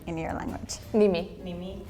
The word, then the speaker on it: nimi: nimi.